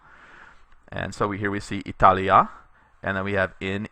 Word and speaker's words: Italia: And what this is telling us in this note is that Italia by itself is a short a ending, Italy, and when you add in the preposition with it, you get a long a, in Italia.